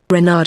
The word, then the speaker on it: Reynard: Reynard with the accent on the Ren.